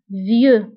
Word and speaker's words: vieux: بالنسبة لفيو كنكتبوها بإكس في آخر الكلمة لكنها لا تنطق vieux.